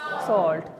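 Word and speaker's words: salt: और कैसा white as सल्ट white S सॉल्ट देखिए spelling S ए एल टी साल्ट लेकिन बोलते सॉल्ट है ओ का साउंड आएगा एक्सक्यूज मी ठीक है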